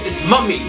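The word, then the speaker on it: Mumy: It's Mummy. It's M-U-M-Y. Mummy. I have no other way of saying that.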